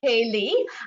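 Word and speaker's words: ceilidh: bit of a king which is a scottish and irish word and pronounced kaylee a traditional irish scottish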